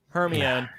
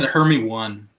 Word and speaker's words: Hermione: Hermione. You said Hermione? I think I said Hermy 1.